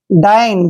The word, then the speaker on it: dine: देखिए DI का उच्चारण यहाँ डी नहीं करेंगे, यहाँ पे इसको डाई पढ़ेंगे, ऐसे डाई। और NE को ने। डाइन, डाइन होता है भोजन करना।